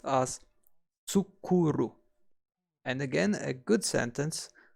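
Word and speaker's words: 作る: To make or to produce is pronounced as tsukuru. And again, a good sentence for remembering tsukuru, for to make or to produce, is I made some zucchini pasta.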